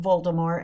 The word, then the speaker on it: Voldemort: And yes, I would like to say that that is the correct pronunciation of Voldemort, it is French. That's how the French pronounce Voldemort and that's how it was intended.